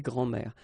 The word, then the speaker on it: grands-mères: Okay, so des grands-mères. As I said, phonetically it's the same anyway, because it will be une grand-mère, des grands-mères, and then des grands-mères.